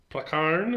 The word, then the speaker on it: Prakaan: Prakaan, I think it's how it's pronounced, even though it's got two A's there.